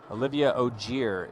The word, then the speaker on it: Olivia Ogier: Olivia Ogier is the correct way to pronounce women's 1.